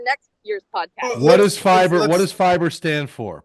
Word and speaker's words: PHIBER: But it's spelled differently. It's ph instead of f. It's ph.